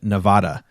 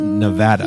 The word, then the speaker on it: Nevada: actually uh Casey also pointed out that I mispronounced Nevada I said Nevada and it apparently is correctly pronounced Nevada he corrected the genius no that's taking it